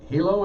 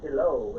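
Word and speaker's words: Helow: uh maurice lindquist or george hilo is it or hello it's hello and they put the emphasis on the latter syllable there uh a couple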